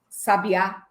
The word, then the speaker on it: sabiá: Mas se eu acentuar a última sílaba, sabiá, vira substantivo?